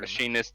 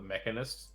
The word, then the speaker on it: machinist: Because I hear so many people call it mechanist. I'm like, Machinist, you mean?